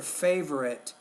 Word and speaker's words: favorite: You're not really pronouncing that V. What is your favorite season of the year?